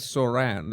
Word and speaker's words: Zohran: Okay, the the the right way to say it is Saran.